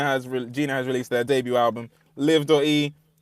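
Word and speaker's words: Liv.e: I I thought I thought it was always I thought it was Liv E is the way. It's just live. It's just pronounced live.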